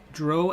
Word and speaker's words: Drow: And so my character was in 1988 a Drow elf, and I didn't want to call him. I wanted to rhyme with crow, not with cow.